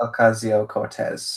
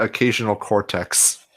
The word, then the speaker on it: Ocasio-Cortez: Her name is Alexandria Occasional Cortex. Yeah, there was Filthy. No, that's wrong. It's Alexandria Ocasio Cortez.